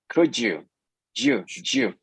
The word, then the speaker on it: could you: yeah and pay attention she pronounces Jew could you that sound Jew comes when you mix when you blend the D sound and the e sound from the U so together is could you you could also say